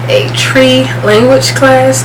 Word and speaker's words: Twi: I took I always say it wrong, a tree language class, TWI, not tree like tree, but a tree language class.